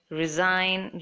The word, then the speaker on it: resign: G H is silent resign G is silent and cough gh sounds